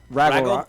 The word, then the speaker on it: Ragnarok: It's like Fraggle Rock, but Ragnarok.